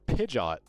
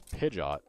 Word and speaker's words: Pidgeot: Stadium uh how they how they pronounce it oh it's pidot it's Pidgeot unless that's how it's supposed to be said